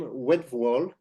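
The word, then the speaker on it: Wtewael: cell this is wedal it's hard to pronounce a t after W he was born in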